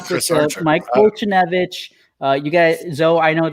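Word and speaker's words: Foltynewicz: Fultonevich.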